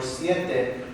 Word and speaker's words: siete: Same thing for siete, siete. So I have the E and the E. Siete.